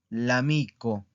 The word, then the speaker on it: l'amico: Lamico, lamico, ¿ok? Que es una palabra plana. ¿Por qué? Porque aquí está, ¿verdad? Lamico, ¿ok? Aquí está la sílaba tónica.